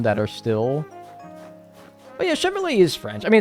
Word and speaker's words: Chevrolet: they'd probably be like Chevrolet and I'd be like no no it's Chevrolet it's a song CH and the t is silent oh why is that